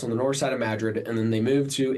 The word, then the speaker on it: Madrid: So, it's kind of a running joke, but they pronounce it Madrid. Yes, they pronounce it Madrid instead of Madrid.